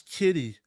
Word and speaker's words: Giddey: Josh K if Josh Josh Kitty I said it right not Josh gidy Josh Kitty if Josh